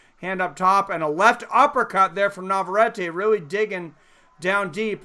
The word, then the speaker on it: Navarrete: It's Elorde and Navarrete, so pretty good.